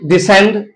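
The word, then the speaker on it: descend: वो ये है कि जब एस और सी इकट्ठे आ जाए तो उसम सी साइलेंट होता है यानी वो एस साउंड देता है मैं कि डिसेंट डिसेंट sorry डिसेंड मसन science अब यहां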